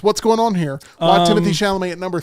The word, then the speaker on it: Timothée Chalamet: All right, number 3, Timothée Chalamet is the way I pronounce it.